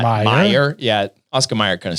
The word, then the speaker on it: Mayer: Meyer.